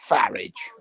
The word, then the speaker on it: Farage: know that's his name farage rhymes with marriage one of the worst